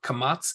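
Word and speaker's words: קמץ: any given sound so both the patach and the kamats sound exactly the same patach is pronounced as in Bal and kamats is also pronounced ah as in Bal the Patak looks like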